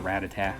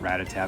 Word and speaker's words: Rattata: It's that Rattata, or Rattata. However you pronounce it. I think I call it Rattata, because that's what the anime said in the first season, so I'm just used to that pronunciation.